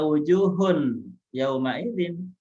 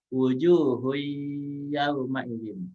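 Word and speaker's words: وُجُوهٌ يَوْمَئِذٍ: Tidak dibaca wujuhun yauma idzin, melainkan harus dibaca wujuhu yauma idzin ya. Tanwinnya dilebur, dia langsung masuk ke huruf iya.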